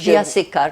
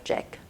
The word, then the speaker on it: Jack: CS: J-A-C-K, Jack. INT: That means you pronounced it English. CS: We called him "Jacques", not Jack.